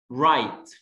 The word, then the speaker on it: write: Write. W silent letter, right.